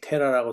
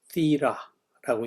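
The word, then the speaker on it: Θήρα: 여기 테라라고 써 있고 이 세타, 이타, 로, 알파 이렇게 써 있죠. 이게 티라라고 읽는 겁니다.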